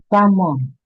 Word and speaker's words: salmon: In this words, the L is silent. It's starting coming. Calf, Okay. ah, calf, ah, Okay. salmon, Okay.